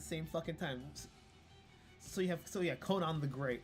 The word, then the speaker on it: Conan: Pronounced Conan, a Gaelic name.